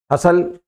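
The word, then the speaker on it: hustle: हसल, बतंगड़ बनाना किसी बात का, टी साइलेंट है।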